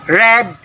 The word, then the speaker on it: read: win one one read red red so by the way in base form read it varies to the pronunciation when it is past simple or past participle so it should be read not read all right example have